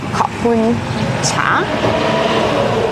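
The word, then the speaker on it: ขอบคุณเจ้า: But apparently in the north, the pronunciation is a little different, and you say Khopun Cha.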